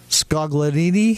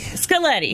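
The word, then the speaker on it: Scaglietti: names, let me try, Scogledini? Scaletti. Scaletti. The G is silent.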